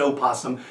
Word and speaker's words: opossum: Is it true that possums, and some people pronounce it opossum, here in Texas we call them possums, is it true that possums were alive during the time of dinosaurs?